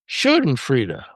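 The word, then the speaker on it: Schadenfreude: It's pronounced uh shenan freda.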